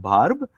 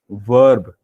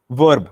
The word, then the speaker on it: verb: it as Barb but but it is not Barb in English the pronunciation is verb okay so verb not ba a not a sound it's a